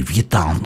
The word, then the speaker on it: Вьетан: Так вот, Вьетан, Анри Вьетан, или Анри Вьетан, как у нас чаще всего говорят, например, в России мы произносим на французский манер Вьетан, потому что когда он